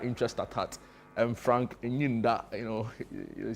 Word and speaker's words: Enyinda: Is it like Enyinda, right? No, my you are pronouncing it in Asante way. Mine is fancy, so Frank Enyinda.